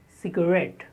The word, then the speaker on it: cigarette: The 19th word is cigarette. Cigarette. The stress on the second syllable, ret. Cigarette.